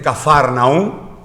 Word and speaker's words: Capernaum: Esto ocurrió en una ciudad de Israel llamado Capernaum. Allí en Israel le dicen Cafarnaum. Bueno, se ve que en su idioma pues se pronuncia así, Capernaum.